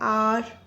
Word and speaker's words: hour: And when the consonant H is silent, letter H is silent, then also we use an. For example, an hour, an honor.